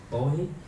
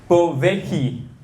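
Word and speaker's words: Pōwehi: Bowie? So it's pretty close. It's pronounced. I'm also gonna try my best. I had to check YouTube. Bovehi, and it's a Hawaiian word, and it means unending source of eternal creation or something.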